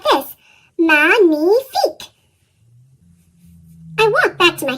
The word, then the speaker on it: magnifique: Magnifique.